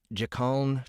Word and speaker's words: Jikaln: The Dasha, the Dreet, the Jikaln, the Drate, and... Hold on, am I pronouncing all these right? Jikaln, Drate? Yeah, those all sound good to me.